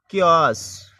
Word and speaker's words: CHAOS: 7 number पे देखें ओ का उच्चारण ओ आओ की ध्वनि में। जैसे क्यास, ओ की ध्वनि में आ रहा है।